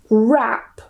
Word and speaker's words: wrap: Wrap. And yes, this is pronounced the same as wrap.